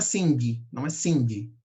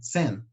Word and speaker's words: sing: Não é sing, tá? É sen. Olha lá. Sing. Sen. Oh, desculpa. É sen. Mais curto, tá?